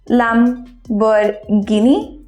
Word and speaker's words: Lamborghini: হিন্দিতে, এবং সেটা হলো LAMBORGHINI, Lamborghini. No, it's the wrong pronunciation. Its actual pronunciation holo Lamborghini. It's Lamborghini. It's Lamborghini. It's not Lamborghini. So it's not Guinea. H এর উচ্চারণটা হয় না, it's Lamborghini.